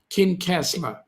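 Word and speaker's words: Kincasslagh: odonnell oh yeah okay how do you pronounce it kin castler okay thanks mate appreciate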